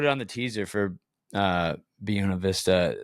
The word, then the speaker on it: Buena Vista: I've been saying it wrong. A lot of us have been saying it wrong. It's Buena Vista.